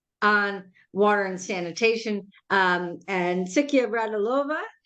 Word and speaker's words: Siyka Radilova: And Siyka Radilova, did I pronounce that correctly? Siyka Radilova. That's the correct one.